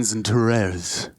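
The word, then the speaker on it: XANTARES: I'd be watching Zentaro's. As you can see him on the replay. I believe there. that is the official pronunciation.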